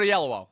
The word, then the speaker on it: Oyelowo: It's David Oyelowo.